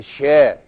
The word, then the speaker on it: شیر: شیر است کادم می‌درد شیر که البته به این وش تلفظ نمیشده شیر به معنی شیر درنده شر شر تلفظ میشه هنوزم هندیها می‌گین شر حالا ما که شیر